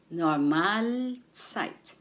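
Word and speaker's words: Normalzeit: or what you call normal site normal site the stress is on the second syllable Mal the Mal site winter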